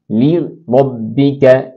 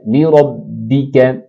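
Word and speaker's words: لربك: نیچے کھینچتے ہیں۔ فصلی لربک لربک، اسی طرح را زبر کی وجہ سے پر ہو جائے گی، لربک وانحر وانحر۔ یہ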